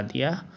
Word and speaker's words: the: और इसके जस्ट पहले हमने THE लगा दिया तो इसे दा ना पढ़ के दी पढ़ा जाएगा।